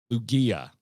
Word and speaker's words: Lugia: Wally, I actually legit appreciate you writing use the G like you say in gay. All right, so it's a hard G. Wonderful. Perfect. We got it. Lugia is how people pronounce it.